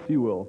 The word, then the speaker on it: Sewell: Rip Sewell, for some reason. What is it? Sewell, Rip Sewell.